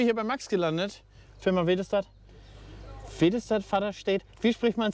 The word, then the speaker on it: Väderstad: Ganz einfach, wie man es eigentlich schreibt. Vaderstedt. Vaderstedt. Das ist eigentlich nicht schwer.